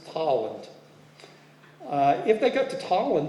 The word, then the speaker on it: Tolland: to say it properly it's not Poland it's pollen if they got to